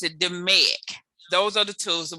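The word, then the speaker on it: DMAIC: the the fourth thing is d-m-a-i-c and we pronounce it dominic those are the tools that we use in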